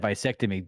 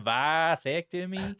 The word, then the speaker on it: vasectomy: Did you just say a fucking vasectomy? How are you supposed to say it? What do you mean? Vasectomy. It's not a vasectomy. It's vasectomy. Vasectomy.